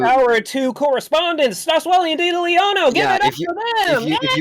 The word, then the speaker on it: Diddlyono: No, I just think No, you literally you just said lost no. one syllable. No. You lost one syllable.